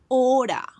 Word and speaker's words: hora: H, this is a silent letter, so we will not pronounce the letter in a word. We will say hora.